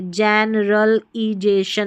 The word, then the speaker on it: जनरलाइजेशन: जनरलाइजेशन क्या है? जनरलाइजेशन। देखिए जनरल आई ये जो है ना एल आई इसको लाई पढ़ना है। ली नहीं पढ़ना है। पढ़ने को तो ली भी पढ़ सकते हैं। लेकिन इस स्पेसिफिक स्पेलिंग में इसको हम जनरल लाई आई पढ़ेंगे। ठीक है? एल आई को लाई पढ़ा जा रहा है। तो आई को आई पढ़ना है।